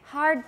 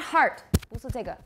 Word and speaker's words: hard: minute so in english it's hard palate try it hard palate not heart excuse me i just i pining on microphone okay everybody hard good hard palate not heart some of you are saying heart hard good hard palate that sounds better so if you keep